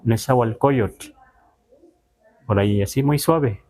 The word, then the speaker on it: Nezahualcóyotl: Pero entonces, los que ya están escuchando, no es lo mejor decir Nezahualcóyotl, sino Nezahualcóyotl.